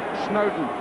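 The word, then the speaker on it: Snodin: he chose Everton in Snowden that's how it's pronounced although it's spelled s n o d i n Snowden as in Lord and Mountain was the way it was put to me shidi and again shidi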